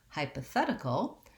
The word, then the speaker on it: hypothetical: when we change to hypothetical hypothetical we have a different stress pattern which is that the third syllable the fat syllable is stressed and so then instead